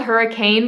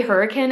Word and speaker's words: Hurricane: might want to know about Hurricane Utah it is spelled hurricane but we actually say hurricane in Southern Utah so if you don't want